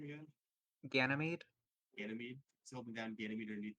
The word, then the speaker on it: Ganymede: Ganymede.